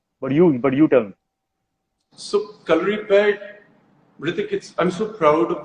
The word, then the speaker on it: Kalaripayattu: so calorie pad, Hrithik, I'm so proud of the fact that you said the name correctly.